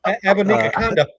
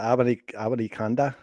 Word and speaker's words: Abanikanda: You guys pronounce it. It's awful quiet. Abanikakanda. Yeah, Abanikanda.